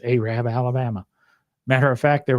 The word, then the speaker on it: Arab: And that's the way we pronounce it in Alabama. I'm not making any disparaging comments. It's Arab, Alabama.